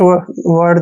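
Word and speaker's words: worried: देखिए डब्ल्यू ओ का उच्चारण व करते हैं, व, ठीक है ना। डबल आर का उच्चारण रे करेंगे, आई ई को बड़ी की मात्रा पढ़ेंगे और डी को डे। वरिड ऐसे पढ़ना है, वरिड।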